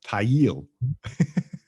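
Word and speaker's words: Thayil: and kim thale yeah i actually looked it up how to pronounce it it's tail tail yeah because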